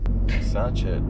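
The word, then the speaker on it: sachet: spelled but I think it's a French word satchet like a hatchet or like black Kant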